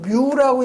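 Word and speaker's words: μ: 여러분이 요거 읽을 때는 요거는 점도는 뮤라고 읽는다고 그랬어요. 요 밀도는 로우라고 읽죠.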